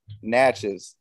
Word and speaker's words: Natchez: you say the name of your city natchez natchez i i know about natchez there's an author